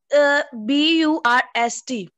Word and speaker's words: burst: B-U-R-S-T burst. बच्चे burst are silent है बट अ the sound है.